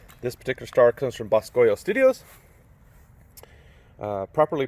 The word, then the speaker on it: Boscoyo: This particular star comes from Boscoyo Studios. Properly pronounced Buschio, but who cares?